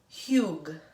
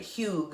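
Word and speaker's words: hygge: e but it's pronounced huge like a weird way to say hug right Hugh is what it's called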